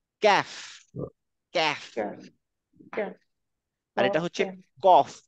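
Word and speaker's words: كاف: যেমন লিখি না কয় জফলা এরকম কয় আকারে কাফ হ না না ক্যাফ ক্যাফ আর এটা হচ্ছে কফ এটা হচ্ছে কফ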